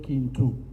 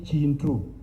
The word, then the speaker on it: Kintu: When you pronounce it as by Swahili accent, you say Kintu. but K in Luganda is Chi. You say Chintu.